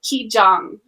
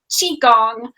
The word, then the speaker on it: Qigong: the Tao of Medical Qigong. Oh, did I say it right? It's okay, like cheese, right?